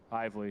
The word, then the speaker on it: Hively: Hively. Of course I was saying it wrong.